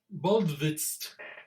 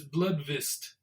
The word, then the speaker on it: Bludvist: Well, his name is Drago Bludvist. And it almost sounds like Blood Fist, but it's Bludvist. Bludvist.